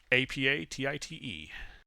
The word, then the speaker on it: apatite: do you spell it apa t-i-t-e it's a um bluish crystal no matter what valley you use there you would pronounce all of them appetite that's why i've been calling it apatite yeah it's like appetite's